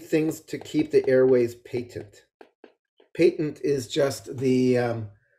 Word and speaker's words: patent: so we need things to keep the airways patent patent is just the um fancy word for open um and it looks like patent but it says pronounced patent so we always you know you talk about